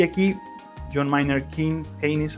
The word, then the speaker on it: Keynes: El mercado y el Estado interactúan, y aquí John Maynard Keynes, o Keynes, como quieran pronunciarlo, él hace pues esta conexión entre el rol del Estado interviniendo en ciertos contextos y ciertas situaciones.